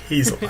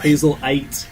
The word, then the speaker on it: Hazelight: Yeah, Hazelight. I was like, is it Hazelight or Hazellight? No one say it's Hazelite. Hazelite.